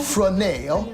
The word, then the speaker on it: Fresnel: Fresnel. It's spelled just like it sounds.